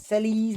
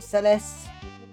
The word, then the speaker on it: Celes: It's Celes, not Celeste.